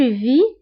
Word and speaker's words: vis: alors بالنسبة ل je vis كتكون مكتوبة ب ES ولكن S ما كنطقوهاش، كنقولوا فقط je vis.